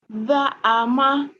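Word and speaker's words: زعم: Za'ama. That's it. Za'ama. Za'ama. Very nice. And you pronounce the ayn with the throat as well.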